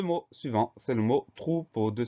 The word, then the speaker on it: troupeau: Le mot suivant, c'est le mot troupeau, deux syllabes. Première syllabe, trou, T-R-O-U. Là, on entend toutes les lettres. Trou, T-R. Après, on a OU, O-U. Deuxième syllabe, po. Le son O s'écrit E-A-U.